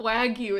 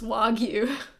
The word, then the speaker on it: wagyu: you it's not I speak oh it's not wagyu it's wagyu I speak Japanese sun and con been killer